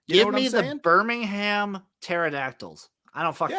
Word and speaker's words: pterodactyls: give me a velocirap pterod with the silent p give me the birmingham pterodactyls i don't [ __